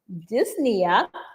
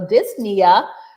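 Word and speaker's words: dyspnea: that refers to muscle let's go to 21 disna refers to and that's spelled d ys p n e a but usually the p is salad so disia refers to a difficulty urinating, b chest pain,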